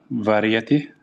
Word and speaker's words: variety: Variety. It's variety. Variety. Variety. Yeah. The A is silent. Okay.